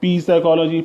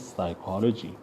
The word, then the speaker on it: psychology: The psychology word is starting with P, PSY, P is silent. If you don't learn, or if you haven't understood, now you would say P psychology, psychology.